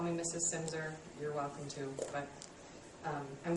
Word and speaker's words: Silmser: It's Silmser on the last name, if you care. It's spelled kind of strangely. And yeah, that L is silent.